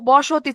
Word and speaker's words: বস্তি: বস্তি যখন উচ্চারণ করতেছি তখন এখানে কোনো অধ্বনি আছে? নাই। এই যে বসতি, এখানে একটা অধ্বনি ছিল, এটা বিলুপ্ত হয়ে গেছে।